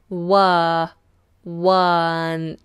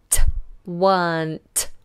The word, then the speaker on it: weren't: were not weren't weren't notice how I'm pronouncing this one because this is commonly mispronounced were one weren't weren't we were not there